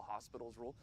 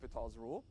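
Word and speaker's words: L'Hôpital: an OS and so people call it you know the hospital's rule that's not I mean that's nonsense okay so the way you pronounce this is this is lital's rule all right and what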